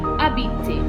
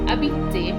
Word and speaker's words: habiter: Now moving on, we have habiter. Habiter means to live. The H in habiter is silent.